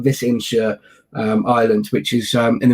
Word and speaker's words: Visingsö: tiny little island called it's pronounced closely to Visingsö. If you were to read it on paper as a Brit such as I am, it would look like Visingo, but Visingsö Island, which is in